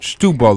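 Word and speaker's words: Setúbal: It's spelled Setabel, but they Stebel or Stubel, they call it Stubel, like Stubel.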